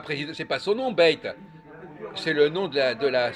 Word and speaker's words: Beit: Le grand rabbin Haïm Corsia, oui, avait rencontré le président Alain Beit, enfin, je sais pas comment ça se prononce, B-E-I-T, BEIT?